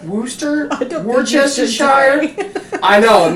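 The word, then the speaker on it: Worcestershire: could say it w woster Shire Wooster Wester sh I know it makes say the name of this phonetically and see if it doesn't make it sound like you've been drinking a little bit you take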